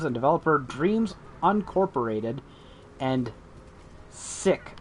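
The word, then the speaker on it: Syck: developer dreams uncorporated and sick announced that's s-y-c-k sick see that because cool spell things in alternative ways that have the same sound phonetically yeah it's sick yo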